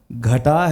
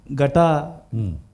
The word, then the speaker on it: گھٹا: مثلا جیسے گھٹا ہے تو گٹا مجھے سننے میں ایسے لگا کہ جیسے وہ پورا نہیں آ سکا، لیکن یہ تھا کہ اوورآل بڑا اچھا پڑھا آپ نے اور اچھا ادا کیا.